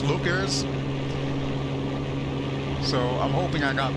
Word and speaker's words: Leuchars: I actually have a friend of mine in Scotland that I asked ahead of time how to pronounce it. She said it's Leuchars.